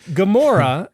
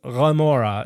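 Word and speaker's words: Gomorrah: Yeah, it's just it's just like gamora is actually raora. It is a it is an i and it's not a g.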